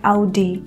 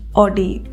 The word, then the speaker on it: Audi: हो चुका है, तो इसे हम कहते हैं Audi, ना कि ऑडी। AUGI को हम Audi प्रोनाउंस करेंगे गाइज।